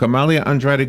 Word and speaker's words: Amalia Andrade: Amalia Andrade. Good morning, Amalia. How are you? I'm great. And by the way, you pronounced my name perfectly.